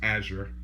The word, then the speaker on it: Azure: to be thinking that it seems like it will be pronounced Azure, but if people have been saying Azure, they've been saying it wrong. It's actually pronounced Azure.